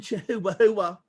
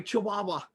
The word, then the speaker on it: chihuahua: He's not a Mexican chi-hoo-hoo, oh sorry chihuahua. Forgive me guys, I'm hooked on phonics.